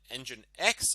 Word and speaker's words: nginx: doesn't seem to be affected by this and engine x also doesn't seem to be affected by this more importantly nginx if you don't know what the nginx is